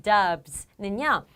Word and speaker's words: dubs: 이 dubs는요, dub의 b 소리가 유성음이죠. 그래서 s의 소리를 z처럼 내셔서 dubs.